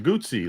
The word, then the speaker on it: Guzzi: It's pronounced Guzzi, like Guzzi, like an Italian, like a Mario.